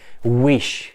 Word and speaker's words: wish: अब विश की प्रोनाउंसिएशन क्या है? विश।